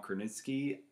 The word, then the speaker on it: Krasinski: And I love the dynamic between the director, actor, John Krasinski.